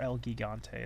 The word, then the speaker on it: El Gigante: Or El Gigante, as I like to call him. Because I don't have a soft G.